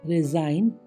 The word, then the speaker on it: resign: RESIGN, रिजाइन, त्यागपत्र।